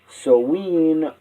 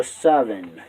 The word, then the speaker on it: Samhain: This is where Halloween really began, but in those days it was called Samhain, meaning end of summer, pronounced either Soween or Savin.